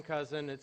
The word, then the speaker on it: Cousin IT: My company's Cousin IT, but my wife pronounces it Cousin It, like the Addams Family.